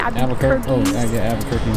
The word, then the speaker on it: Albuquerque: Albuquerque.